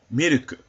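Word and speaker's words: ミルク: Another example would be miruku, or milk. The first character is mi. Second character, ru. The last character, ku. Put it together, you get miruku.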